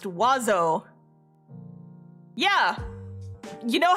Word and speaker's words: oiseau: Bird in French is pronounced oiseau. Yeah. You know how that looks like it should be pronounced? Oisiao. But you only pronounce like half of the letters.